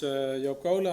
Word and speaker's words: Joop Coolen: So, my name is Yokola. I'm welling Marine Research. Very well pronounced for a non-Dutch speaker.